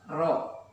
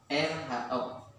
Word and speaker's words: Rho: Nah, rumusnya pada tekanan hidrostatik berlaku rumus pH sama dengan, ini simbol ini seperti mim ya. Dalam pondok mungkin seperti mim, tetapi dibacanya ini adalah Rho, RHO.